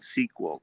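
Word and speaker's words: SQL: uh the my sequel it's called sequel but it's spelled s-q-l i always forget well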